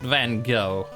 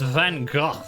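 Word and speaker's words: Van Gogh: and you like it's like I'm naming him van go cuz he's an artist like well it's not pronounced van go it's van go except it's like C or something like that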